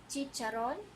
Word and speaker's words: chicharon: CH, the pronunciation will become TS, okay? For example, China, China. Chino, Chino. Chicharon.